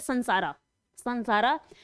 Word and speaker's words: संसारा: category, winds of संसारा, मतलब English में इसी स्पेलिंग एम लगाते हैं बीच में, इसको हिंदी में बोलते हैं संसारा, विंड्स ऑफ संसारा मतलब